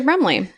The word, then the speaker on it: Brumley: and we got to Brumley we did to the castle house do you want to hear about Brumley I would love to hear about brle Yes again I'd love to it rhymes with crumble that's all I can